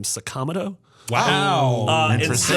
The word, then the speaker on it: Sakamoto: There's a man whose last name was Sakamoto and he pronounces his name Sakamoto.